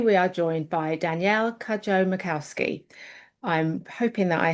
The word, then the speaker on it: Cudjoe: Today we are joined by Danielle Kajjo Macowski. I'm hoping that I have pronounced your surname correctly.